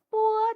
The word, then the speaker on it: b: 它的发音和广播的 “ 播 ” 读音很像，只是要将 “ 播 ” 的读音发得又轻又短。